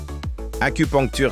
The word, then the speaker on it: acupuncture: Assure-toi de prononcer acupuncture. Répète après moi, acu. Poncture. Acupuncture, c'est ça, le bon son.